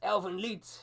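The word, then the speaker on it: Elfen Lied: It's Elvenlied, ninjas. Lied. Not lied. Lied.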